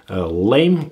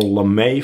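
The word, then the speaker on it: lamé: a pretty interesting one, lame or lame flake. There is actually a little accent on the E, so I guess officially that it would be lame flake.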